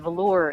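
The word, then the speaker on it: Velours: French spelling the word velour is you pronounce it the same in English or French but the S is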